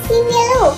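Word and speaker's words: Simeulue: Lamborek koreksi tulisan simuli, bacanya simelu.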